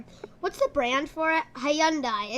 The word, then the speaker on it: Hyundai: Hyundai. It's Hyundai. Are you saying some people? Well, a lot of people in the States say Hyundai. It's Hyundai.